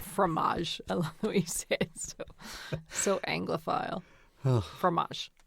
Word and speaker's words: fromage: a little bit of fromage a little bit of cranberry sauce on top of the fruit what's the difference between a formage set and a cheese set the fancy way i say it fromage so anglophile oh fromage